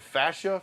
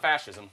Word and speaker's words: fascia: It's not fascism. It's fascia.